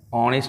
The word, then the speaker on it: honest: अच्छा, आपने ये तो सुना ही है ना, HONEST, ऑनेस्ट है। इसमें H साइलेंट है और A ऑनेस्ट नहीं,